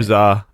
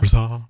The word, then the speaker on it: RZA: Rizar. Oh, not RZA. RZA. What's up? And the emphasis is on the czar. Rizar.